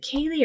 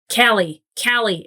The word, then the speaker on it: Callie: I think it's Kaylee. Callie. It's Callie. See, they spell it funny. Not phonetically. Like if it was Cali, I'd be like, Callie.